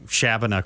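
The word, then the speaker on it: Shabbona: And for those with confusion, we are saying Shabana correctly because Chabanais is, in fact, how you pronounce the Chief's name.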